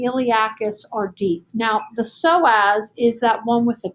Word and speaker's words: psoas: are deep now the psoas is that one with a p so um the p is silent okay there's a psoas